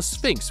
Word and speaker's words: Sphinx: to themselves as a sphinx with a P and not an F sound, which means that they are pronouncing it in the Greek way, and this matters, because